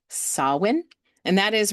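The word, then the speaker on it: Samhain: It's it's spelled s a m h a i n but that is actually pronounced sawin.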